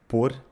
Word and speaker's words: pôr: way, don't forget that the circumflex accent on the verb pôr serves to avoid confusion with the preposition por (for), where the O makes the sound [u]: pôr, por.